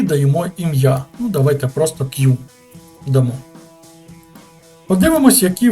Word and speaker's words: queue: такий адаптер як черга пишеться воно Q читається просто як Q не треба його читати Q тепер роздивимось чергу черга